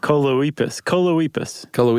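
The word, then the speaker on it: Choloepus: Coleoepus. It rhymes with Bocephus.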